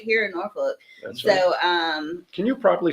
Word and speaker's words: Norfolk: Well, there's an L in there, but apparently you don't say that. Norfolk. One lady had me in the store say it right, Norfolk, and I'm like, I can't say it.